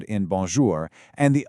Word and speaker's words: bonjour: This is where the sound comes out partly through your nose. Let's actually try this together. Right now say the word bonjour like you normally would. Okay. Now try saying it again, but this time gently pinch your nose.